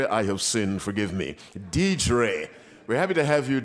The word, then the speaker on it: Dedre: DED DED DED I have sinned forgive me dedre we're happy to have you D God bless